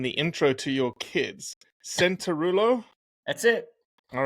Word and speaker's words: Cianciarulo: Centulo. That's it. All right. It doesn't It doesn't spell that way, but it sounds right. Right. Well, it's in Italian. It's Chanjeru. Oh, just like me.